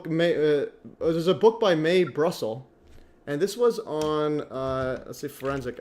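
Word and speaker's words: Mae Brussell: um let's go may may Brussel May Brussel how do you pronounce may v yeah May m AE and then Brussels B Ru there she is yeah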